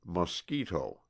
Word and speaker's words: mosquito: It is called a mosquito, pronounced mosquito, and it is, perhaps, the most tormenting, the most persevering, savage, vicious little monster on the face of the earth.